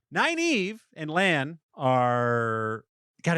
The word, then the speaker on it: Nynaeve: Nine Eve. Nine Eve and Lan are God, it's so funny.